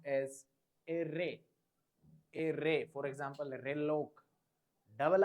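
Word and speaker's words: erre: R is pronounced as array, array. For example, reloc. Double R is pronounced as array. Stress on R, array. For example, recupación.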